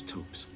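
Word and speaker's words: Thops: I stand corrected. Pronounced tops. None of them are particularly I thought it was Tops. Why put an H there?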